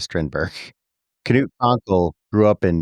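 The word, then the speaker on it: Strindberg: Well, in Sweden they actually pronounce that Strinbai, but I think we'll stick with Strinberg.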